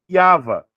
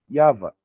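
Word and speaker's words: יהוה: Então, no paleo hebraico, como que eu pronuncio esse nome? Yava. Que seria o quê? A raiz do verbo rava. Yava.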